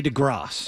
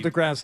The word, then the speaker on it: DeGrasse: Who is Andre DeGrasse? Oh, well, Neil deGrasse Tyson's son from his first marriage. No, he runs a Canadian high school. Is that right? And you're pronouncing it wrong. It's DeGrasse.